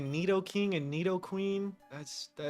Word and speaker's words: Nidoking: What do you say, Nidoking and Nidoqueen? That's not how you say it. Nidoking and Nidoqueen. Or Nido.